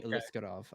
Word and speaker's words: Aliskerov: his name alisov yeah it's actually alisov I mispronounced it didn't he uh